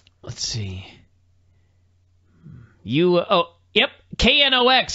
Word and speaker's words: Knox: website yeah maybe it's k-n-o-c-k-s let's see you oh yep k-n-o-x that's it it's just knocks it took them months